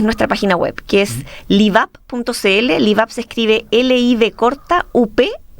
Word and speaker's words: LivUp: Quería pedirte, la gente que puede estarnos escuchando, viendo, puede estar interesado en conocer de la iniciativa Live Up.